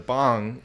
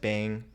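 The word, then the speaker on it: bhang: the white so bong not like the bong you smoke out of b-h-a-n-g okay so uh some people pronounce it bang there's actually a company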